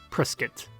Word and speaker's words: Prescott: of the city of prescott then part of the arizona territory or as gail garner pronounced it priskit gardner's father came to